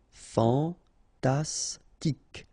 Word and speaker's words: fantastique: Fantastique, okay, Q-U-E at the end, K, okay, tic. Fantastique, fantastique.